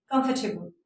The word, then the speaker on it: comfortable: देखिएगा COM आ गया, मैंने पहले एक वीडियो में बताया था जब दो अल्फाबेट के दरमियान में ओ आ जाए तो उसको हम अलिफ प्रोनाउंस करते हैं, तो ये क्या बन गया, काम। और इसी तरह आर से पहले वाउल आ गया, बाद में कंसोनेंट आ गया, तो इसको आर को हमने प्रोनाउंस नहीं करना। और कंफर्टेबल, एक्सेप्टेबल, कंफर्टेबल।